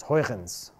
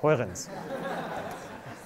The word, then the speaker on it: Huygens: The second generation of Cartesians, in particular one Christian Huygens from Dutch Republic, Netherlands, I think it's pronounced like that, it's Huygens. Huy, clear throat, and ends, Huygens.